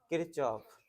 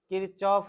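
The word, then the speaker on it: Kirchhoff: नाम प्रोनाउंसिएशन क्या दिया, जैसे पढ़ने के लिए इसको किरचॉफ पढ़ रहे हैं, यहां तक अगर आप पढ़िएगा तो CH से च भी होता है और क भी होता है, दोनों होता है।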